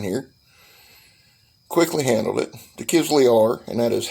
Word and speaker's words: Kizlyar: some knife fighting here quickly handled it the kids we are and that is how you pronounce it i don't need a pronunciation lesson